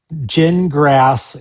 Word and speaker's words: Gingras: It does not mean that gin grass is probably right. That is not what that means. It's pronounced gin like you drink and grass like you mow.